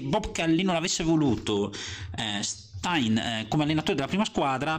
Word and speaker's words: Stein: si chiamava John Stein Tra l'altro credo che nella versione scozzese la pronuncia sia qualcosa di più simile a Stin Ma questo aspetto io lo lascio a qualcuno fra di voi che sia talmente abile da dare suggerimenti io lo pronuncerò all'inglese John Stein detto jck Chi era